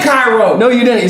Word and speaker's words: Cairo: His name's not Curio, it's Cairo. I said Cairo.